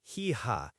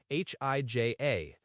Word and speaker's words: hija: Son is hijo, H-I-J-O, and daughter is hija, H-I-J-A. The ha is silent in Spanish, remember, so it's hijo and hija. Right, the silent ah is always a fun one for English speakers.